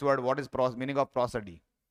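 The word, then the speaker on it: prosody: ये प्रोजोडी नहीं है, इसका जो प्रोनाउंसिएशन वो क्या है, प्रोसडी। ये जो है ये प्रो है, ये ए पढ़ा जाएगा, प्रोसडी।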